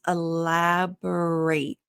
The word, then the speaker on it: elaborate: Now here, elaborate, the verb is ate at the end, like the past tense of eating. And you want to be careful with that because elaborate, if you pronounce it differently, that's the noun. So, or the adjective.